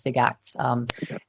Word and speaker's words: SIGACTs: SIGACTs, I mean, they were certainly, that was how we pronounced it, was SIGACTs.